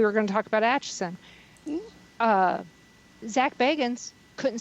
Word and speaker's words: Atchison: And I told him, I said, it's Atchison. It's don't look at how it's spelled. Just listen to how it's pronounced.